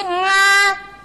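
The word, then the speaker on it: غ: Mah, apa ini tadi Mama bacanya apa? Ini salah, Mah. Ini bukan A, ini nga. Subhanallah. Ngain, bukan A, Mah, ini nga.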